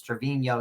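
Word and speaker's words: Treviño: answered my question what how to pronounce it everyone is Trevino and I've been saying Trevino this whole time it's Trevino who's got the Enya on the end but yeah we'll continue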